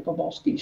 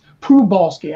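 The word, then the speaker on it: Przybylski: Now I'm just going to show you Pobolsky's star. Pronounced Prubolsky, actually Prubolsky is this fellow's name.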